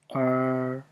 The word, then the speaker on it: er: La première, comme sister en anglais. Er, La deuxième, vont, vont.